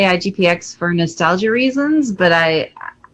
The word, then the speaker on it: IGPX: now we're looking at oh international grand prix igpx that's how you say it versus boruto one of